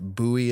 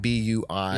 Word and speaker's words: Bui: Michael, and I never asked how to pronounce it. I apologize, but Bui is how it B-U-I.